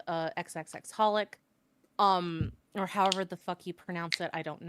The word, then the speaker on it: xxxHOLiC: crossover with another of their series called uh XXXholic um or however the you pronounce it. I don't know. I never read the thing, but it's pronounced Xiholic.